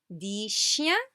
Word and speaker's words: dix chiens: And then, dix chiens. See, we do not pronounce this X.